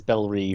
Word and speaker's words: Belle Reve: I say Belle Reve, and everywhere I've ever seen says Belle Reve, yeah. Except this show says Belle Rev, and I hate it.